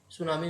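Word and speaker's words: tsunami: तब भी जो है सुनामी वेव्स उठती हैं। तो ये सुनामी वेव्स जो है ना, इसमें टी साइलेंट है और ये जापान का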